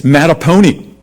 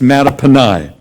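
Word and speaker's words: Mattaponi: m-a-t-t-a-p-o-n-i is in elementary school looks like it's matapony sounds like a pet you want to keep it's actually a native american name it is pronounced matapanai and last year a young lady came up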